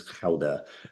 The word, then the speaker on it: Gouda: The Dutch, the real pronunciation is Gouda. The G is a very soft one, so it's Gouda.